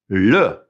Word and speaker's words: le: So the way we say the in French for book is this, le, L-E, and E is pronounced E.